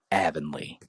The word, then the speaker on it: Avonlea: like but yeah I would probably say like Evan Leah but from what I remember Disney Channel they would always say Avonlea so I've never watched yeah I know that